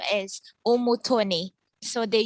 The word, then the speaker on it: Umutoni: It's a French name, and then my last name is Umutoni. So the U is pronounced U.